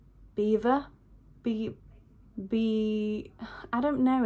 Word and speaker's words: Belvoir: how to pronounce it I feel like when I heard it on the the mic afterwards people were saying Beaver be be I don't